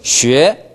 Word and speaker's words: 学: 그대로 계세요. 시. 시. 그 상태에서 입만 오므립니다. 쉬. 쉬. 네. 쉬에. 쉬에. 됐어요. 그렇게 냅니다. 쉬에.